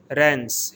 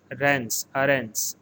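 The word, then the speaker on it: Reims: city and it is pronounced as aarons rans here m is pronounced as n so it is rans and as far as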